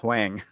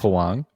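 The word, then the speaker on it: Huang: this short earlier and they kept calling her Miss Wang like that's not her name rude rude so like every time I go to say her name I have to like catch myself hang hang yes um and I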